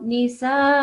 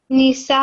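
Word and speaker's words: النساء: So first of all, this needs to be prolonged quite a bit because it's a letter, it's a sign of extra elongation. So Nisa. Nisa.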